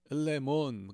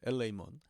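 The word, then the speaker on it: ἐλεήμων: 엘레몬 그러면 이게 한국에서 배울 때는 에타도 좀 그냥 에 이렇게 발음했는데 이게 이제 밖에서 공부를 해보니까 에이 이렇게 좀 길게 발음하더라고요. 엘레이몬.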